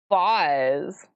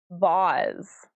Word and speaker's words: vase: Because this word here is also the name of a very fancy vase, like an ornate vase as well, or vase, depending on how you pronounce that. They're both acceptable, vase or vase.